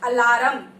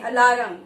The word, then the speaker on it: alarm: The correct pronunciation of this word is alarm. It is not alarm. Okay? Now from today, never say alarm. Always say alarm.